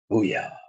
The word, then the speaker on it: Booyah: breath, they just say, Booyah. And I always make a point of turning around and saying, that's exactly how you say it.